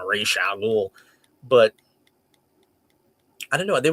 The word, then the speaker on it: Ra's al Ghul: There was also a viral video about a week ago where Denny O'Neil, the legendary creator of Ra's al Ghul, pronounced it more like Ra's al Ghul.